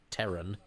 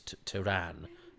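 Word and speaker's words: Terran: flames um isn't it odd that Tom Baker pronounces Teran as in of Earth as Tran um I bet somebody said Tom shouldn't it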